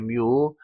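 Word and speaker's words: μ: 이때 진공의 유전율 값은 8.85 곱하기 10만 12성으로 계산기 잘 찾아보시면 상수값 찾을 수가 있을 것이고, 마찬가지로 이 투자율 역시 투자율을 뮤라고 읽어요. 뮤.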